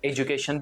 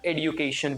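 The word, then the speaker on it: education: इसका एक्चुअली दो प्रोनाउंसिएशन है, इसको हम एजुकेशन भी बोल सकते हैं और एडुकेशन भी बोल सकते हैं, दोनों प्रोनाउंसिएशन करेक्ट है।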